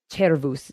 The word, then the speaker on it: cervus: Of course, there were sound changes that took place, so we don't use the hard K sound anymore for that word and for the words that came from it.